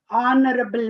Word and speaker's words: honorable: So in the same way, honorable man. So honorable, even though H is a consonant letter, we are pronouncing it ah.